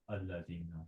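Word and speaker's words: الذين: Now, if you don't read inna, pretend there's no inna in front of it. How will you read this next word? Alladhina. Exactly. So you pronounce it, that alif, if you're going to start with it. Oh, okay. Otherwise, Otherwise, it's ignored if there's something before it. So now going back here, what's going on?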